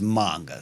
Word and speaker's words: manga: but like it's the manga versus manga, and it's manga. So I have a tendency to take my A's to the way of manga, and I always tell